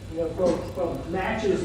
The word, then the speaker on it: Natchez: and you can see Natchez Mississippi which is an English pronunciation of not you and you know all